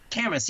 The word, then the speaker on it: Camas: How do we pronounce it? Camas. Camas, yeah, you said it right.